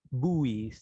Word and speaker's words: buoys: okay life jackets like buoys buoys that's the correct pronunciation for that life rafts life boats